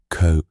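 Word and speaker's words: cwm: The Welsh word for valley, pronounced co, which is what Mallalerie called it in 1921.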